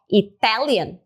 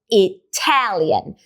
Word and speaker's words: Italian: Tá vendo que eu não falo só Italian, eu falo Italian. Sai um arzinho a mais e em sílabas fortes que talvez você já tenha percebido.